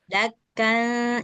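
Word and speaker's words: دكا: Jadi bacanya dakka. itu. Suara nun sukunnya itu sedikit digantung. Jadi dia kayak samar-samar suara nunnya itu nggak terlalu jelas kedengaran suara nun, tapi juga nggak hilang sama sekali.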